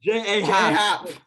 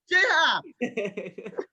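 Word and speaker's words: J. A. Happ: J.A. Hap. It is J. Happ.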